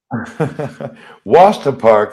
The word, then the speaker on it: Worcester Park: park and i'm like no it's pronounced like that you know but uh it's written like this so yeah it's worcester park yeah like what's the source wasta park that sounds like somewhere